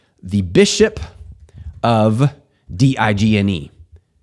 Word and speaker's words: Digne: Well, this one is French, so it's going to be pronounced a certain way. I give it context by saying, this is from the play Les Miserables. Here it is. Digne.